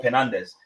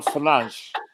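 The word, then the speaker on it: Fernandes: all know he's all penandez if penance is in the game you guys are crap i'm sorry can i correct you his name you've pronounced his name wrong his name is actually bruno finance for lunch thanks for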